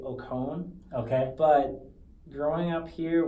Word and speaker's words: Okon: in from Nigeria hello in Nigeria you say Oh calm okay but growing up here we just say okay okay see when I was interviewing your sister I said oh calm and then I asked her if I pronounce